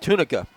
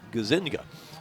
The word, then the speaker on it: Tunica: It's C.J. Tunica, and Tunica is his correct pronunciation, but I look at it and it looks like Gazinga. So it's Tunica is what I was told.